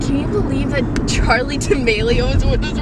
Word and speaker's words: D'Amelio: It kind of sounds like armadillo.